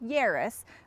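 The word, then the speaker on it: Yaris: is the 2015 Toyota yarus and it's pronounced Yus like Paris not like yard trust me because we've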